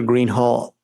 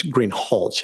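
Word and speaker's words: Greenhalgh: thank you your honor officer Greenhall I believe I'm mispronouncing your name it's green hch isn't it correct okay I apologize will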